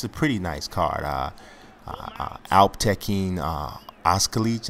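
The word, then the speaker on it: Alptekin Özkılıç: Alptekin Oskalic, I think his name is pronounced, against Luis Smolka.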